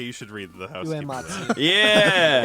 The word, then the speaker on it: Uematsu Nobuo: Uematsu. Yeah. It's like way, like WE for like UE. It's way. Way. Pronounce Yeah. it like Keanu Reeves in Yeah. Bill and Ted.